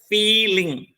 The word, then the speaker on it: feeling: So main word is फील, सो the first syllable is stressed, feeling.